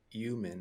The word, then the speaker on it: human: I've heard a few people in podcasts the last few days say human instead of human. Like they don't pronounce the H.